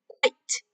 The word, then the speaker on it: quite: quiet랑 다릅니다. 스펠 다르지? quiet 이렇게 되고요. 얘는 quite, 꽤라고 quite라고 읽어야 됩니다. It's quite cloudy outside.